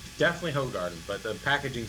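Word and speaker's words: Hoegaarden: bottle and immediately recognize color you know it's pronounced H Garden not hog Garden yeah yeah screw that I'm still I'm still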